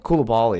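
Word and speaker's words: Coulibaly: Koulibaly, that's how you say it.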